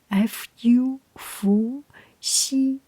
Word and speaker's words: 伏羲: And in Chinese pinyin, Chinese way of pronunciation is Fu, Fu, Xi.